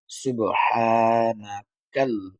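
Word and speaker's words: سبحانك: খালি আলিফ হা সুবহা এই যে হা টা বলার সময় গলা থেকে নিয়ে আসতে হবে এগুলো আমরা কায়দাতে মাখরাজের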